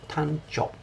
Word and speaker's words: Tancho: Tancho.